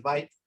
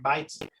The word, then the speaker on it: byte: La unidad más conocida, por ejemplo, en computación es el byte. Bueno, se escribe así, pero se pronuncia así.